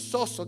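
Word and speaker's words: σῴζω: Entonces, la palabra que usa aquí es zozo. Zozo. Cuesta pronunciar en el griego. Es zozo.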